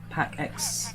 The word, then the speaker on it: PAX: all right so now pack x i keep saying pax because actually it's pronounced pack x there's ain't run the